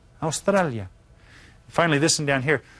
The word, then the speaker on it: Australia: Be careful of your pronunciation. Pronounce each of the vowels. Australia. Australia.